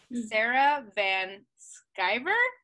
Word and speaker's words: Sarah Van Sciver: highest selves so today we have with us sarah van skiver am i saying it right oh yes i